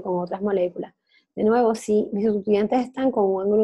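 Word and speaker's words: syn: La conformación donde entonces están eclipsándose los grupos luminosos se dice que es SIM. Están mirándose el mismo sitio, se dice SIM. En inglés se escribe S-Y-N, que no lo veo aquí, pensaba que estaba aquí.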